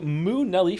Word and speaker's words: Moo Nelly: Thank you, Moo Nelly, for the resub. Pronounce moo like the cow, Nelly.